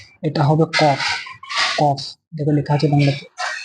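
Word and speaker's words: قاف: এটা হবে কফ, কফ, দেখো লেখা আছে বাংলাতে কফ। কাফ, ঠিক ওর মতো উচ্চারণটা হবে কাফ, এটা একটু অন্যরকম উচ্চারণ হবে কাফ, ঠিক ওই টাইপের দেখো উচ্চারণ আছে, এটা যেমন কফ হচ্ছে, এটা কি হবে?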